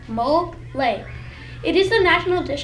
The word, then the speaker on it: mole: Another awesome national dish is called mole, pronounced mole.